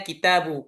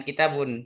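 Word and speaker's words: كتابُ: Wahid isnani salasaal kitabun kitabu dibacanya kitabu kalau ada alif lam jangan kitabun tapi kitabu karena sudah diganti dengan alif lam ainal kitabu ainal kitab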